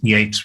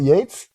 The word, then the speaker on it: Yeats: but you know it's it's not like it's phonetically spelled yet i always thought it was is it is it yates it's spell yeats and